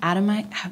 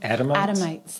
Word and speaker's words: Adamites: thinking of um the the you the Adam adomite what how do you adamites thank you I always say it wrong and